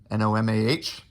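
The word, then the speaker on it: Nomar: usa baseball card of noma nomah as we pronounce it here in new england and then here's the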